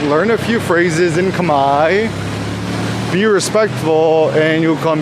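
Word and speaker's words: Khmer: It's funny because it's spelled kamur but it's pronounced kami like k a m a i.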